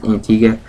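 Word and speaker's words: Antigua: we arrived at Antiga which is actually spelled with a UA at the end not just an A but it's pronounced Antiga uh we went to a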